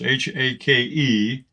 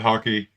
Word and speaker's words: hake: no confusion uh this is a hake brush h-a-k-e uh is pronounced hake uh i've heard seen a lot of things that people call it hockey uh i guess it rhymes with sake from